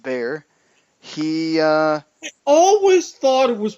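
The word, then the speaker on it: Bexar: San Antonio judge of Bear County even though it's spelt with an X in the middle it's pronounced bear he always thought it was pronounced Beck sir I did as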